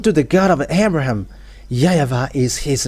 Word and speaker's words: YAHVAH: So here it is really seen, the W is really V, but it's the Western who changed it into Wu.